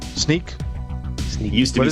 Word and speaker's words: Snyk: One of the founders said it's Snick like Wolverine sound of his claws popping. And then later it was mispronounced so many times. I believe the new urban legend is that they said screw it, and now they call it Sneak.